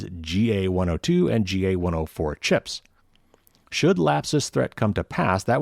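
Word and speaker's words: Lapsus$: me read this article south america-based hacking group lapses and that's spelled l-a-p-s-u-s dollar sign is threatening to disclose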